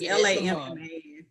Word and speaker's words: Lamman: It might be pronounced Lamont, but it's Lamman.